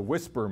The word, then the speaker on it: WSPR: probably played with the whisper mode um that was the acronym there was supposed to mean weak signal propagation reporter and it's nice that it pronounces as as the acronym whisper we talk about Whispering